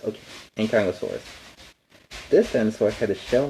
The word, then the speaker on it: Ankylosaurus: Ankylosaurus. Okay, Ankylosaurus.